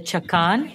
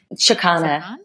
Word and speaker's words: chakana: the intention bands and the chakan, the Andean cross? Is that how you say it? The chakana. Chakana, sorry. Yes.